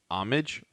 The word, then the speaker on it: homage: But because it says it's hard to pronounce it, it's AA-MAHJ Homage. homage.